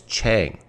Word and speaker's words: Chang: PF Chang P.F Chang this is how you pronounce it it's Chang and uh so thank you Paul for allowing